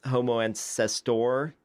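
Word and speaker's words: Homo antecessor: Homo erectus and uh Homo ancestor I think is how you pronounce that so I mean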